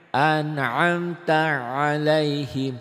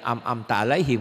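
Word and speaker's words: أنعمت عليهم: An'amta alaihim. Itu bedakan ya, jangan amta alaihim, kan banyak yang baca begitu.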